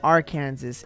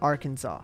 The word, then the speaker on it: Arkansas: it's discouraging to pronounce our kansas incorrectly it's pronounced arkansas without the s at the end just want to let